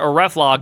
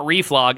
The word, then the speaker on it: reflog: all right get reflog command pronounced a reflog not reflog is kind of like